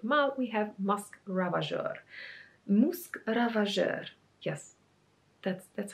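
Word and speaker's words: Musc Ravageur: have from frederick ma we have musk ravager musk ravager yes that's that's how you say it is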